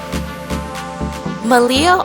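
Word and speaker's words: Meliá: as well so let's go check it out malia all-inclusive resorts yes malia sorry for the wrong pronunciation earlier is actually made up of two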